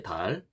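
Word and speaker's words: ذال: 그 달은 이게 돼지꼬리 발음, 그러니까 영어 정관사 더 할 때 더처럼 혀가 또 양 이 사이에 나와야 됩니다. 그래서 달, 이런 식으로 발음을 하는 겁니다.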